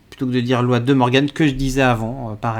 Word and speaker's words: de Morgan: comment on le dit apparemment on dit de Morgan donc voilà donc avec mon prononciation anglaise ça donne 10 Morgan euh alors interb